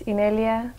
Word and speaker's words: Inelia: family name that is that I'm incapable of pronouncing okay my full name is in earlier el mother and I'm also